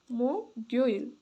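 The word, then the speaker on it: 목요일: सु यो इल सुइल अब त्यसपछि बुदाार पछि के आउँछ बिहिबार बिहि बार बिहिबार अ बिहिबारलाई चाहिँ के भन्दो रहेछ छ मोगोइल मोग्योइल मो गयो इल मुगेल अब उच्चार पनि लेख्दिन्छु।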